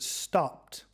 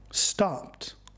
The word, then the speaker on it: stopped: th in the conversation we heard the word stopped noticed Edie comes after the unvoiced P sound so it is pronounced as team listen to the difference with and without Edie stop stopped stop stopped now you try repeat after me stop stop